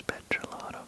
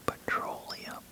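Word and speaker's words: petrolatum: Cocoa butter, cotton seed oil, olive oil, petrolotum. That is prolotum by the way. It's not petroleum.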